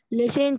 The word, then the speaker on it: listen: Listen to music. Listen to music. التي هنا silent حبيبتي. Listen to music. Listen to music. Yes. To music. The T is silent.